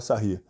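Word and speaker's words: Sarrus: Se escreve Sarros, se fala Sarry.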